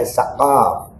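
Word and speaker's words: Assegaf: Syekh Hasyim assegf ini ha Assagaf kalau di sini bacanya assaqaf ha Mat nih pendukung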